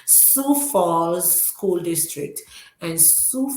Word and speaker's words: Sioux: at the name of it there, but it's pronounced Sioux. Sioux Falls School District.